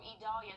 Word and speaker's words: Idalia: due to Tropical Storm idalia idalia there we go sure I pronounced that right tropical storm e-dalia so that's going to